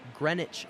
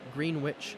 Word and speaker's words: Greenwich: clarification in chat that it is pronounced greenwich not green witch that's my bad i'll